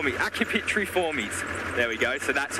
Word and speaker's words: Accipitriformes: the rest of the birds of prey, the Accipitriformes, sorry. But they're actually in a completely different order. So they are in the Falconiformes, not the, I can never pronounce this word right, Accipitriformes.